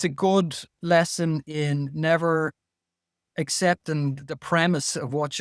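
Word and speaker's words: Niamh: fact that the name Neve has an MH in it. And they say, well, how can MH sound like a V?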